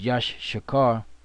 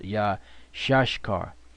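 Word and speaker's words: Issachar: now isar is yashar which we used to think it was Yash shakar which is not the the proper way to pronounce it which Elder to our brought is yah shashar yah shash car because yashar means he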